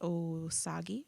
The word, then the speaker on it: Osage: i've heard it pronounced oh sagi i've heard it pronounced osage i think it's osage it's also sweet the